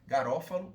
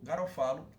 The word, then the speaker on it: Garofalo: com a publicação Criminologia do positivista italiano Raffaele Garofalo ou Garofalo. A pronúncia eu já vi pessoas tratando com as duas pronúncias.